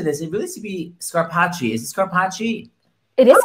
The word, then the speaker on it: Scarpaci: It really should be Scarpaci. Is it Scarpaci? It is Scarpaci.